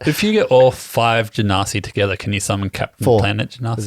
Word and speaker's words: genasi: around this table a ganasi and uh we had to clarify the pronunciation he went to Google and pressed the button and it told us and it wasn't what you just said janasi a janasi janasi oh that's